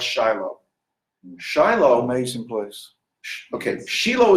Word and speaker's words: Shiloh: Shiloh, which y'all like to pronounce Shiloh.